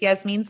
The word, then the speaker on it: Yasmine: will uh yes but it's yes means spelled with a y um it's like jasmine